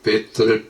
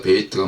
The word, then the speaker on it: 베트: 제가 가끔 이렇게 베트를 베이트라고 읽었는데, 이제 보통 베트라고 읽지만은 또 히브리식으로, 히브리어는 베이트입니다.